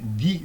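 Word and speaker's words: knee: 돼요 여기서 그 여기 니 요건 발음이 니라고 발음합니다 니라고 발음하는데요 k n 무음이에요 이게 그래서 여기게 이제 문턱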